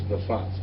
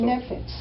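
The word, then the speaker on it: נפץ: For the word for explosion is nafas. Did I say that right? Nafas? Okay, nafas. Yeah. So nefetz.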